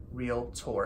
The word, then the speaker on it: Realtor: realtor not realtor not real at or some extra Vallon there it's real like real property real estate real tour and that is a